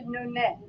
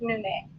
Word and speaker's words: Nune: So, so I reverted to Nune, which is the Armenian pronoun. Just Nune is the Armenian pronunciation.